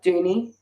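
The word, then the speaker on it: Duny: pronounced junior yeah like dooney doing it yeah dude okay because it's it's spelt dunny yes yeah well in the show they pronounce it dooney so i'm pretty sure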